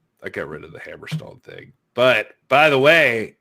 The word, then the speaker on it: Hammerstone: his name is alexander hammerstein you gotta say it right his name is alexander hammerstone so uh oh